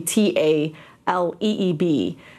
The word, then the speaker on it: Tlaib: you pronounce it telly well it's actually pronounced as if it was in Hebrew so when it got translated it got translated in the Hebrew language instead of thali which supposed to be ta l ee b instead of slob but